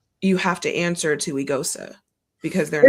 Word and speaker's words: Eghosa: Everyone knows how to say my name, Eigosa, first and foremost, and then we can kind of go from there.